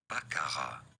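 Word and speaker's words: baccarat: Well, for reference in French this is said as bakara because it is French the t is silent at the end.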